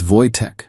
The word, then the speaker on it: Wojtek: It's Wojtek, but Americans hear it wrong.